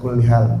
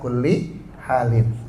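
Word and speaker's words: على كل حال: Nah, saya sering lihat orang-orang kalau misalkan ngucapin maksudnya alhamdulillah ala kullial. Makanya nanya ada musibah apa? Jadi kalau ada sesuatu yang tidak menyenangkan bacanya alhamdulillah ala kulli halin.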